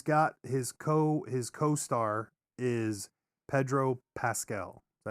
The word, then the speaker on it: Pascal: He's got his co-star is Pedro Pascal. Is that how you say his name? Yes. I think so. Pasquale.